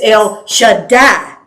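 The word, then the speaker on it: El Shaddai: part like Betty would be beti yeah it's El Shada is how it's pronounce it or how it's pronounced the word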